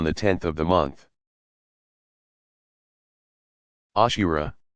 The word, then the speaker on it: Ashura: Ashura, pronounced Ashora.